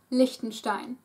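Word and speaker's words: Liechtenstein: have luxemborg luin luxemburger lonstein it is spelled with e e but the E is pronounced short lonstein very small go Google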